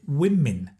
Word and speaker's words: women: First is women, because a lot of students confuse woman, one, with women in the plural.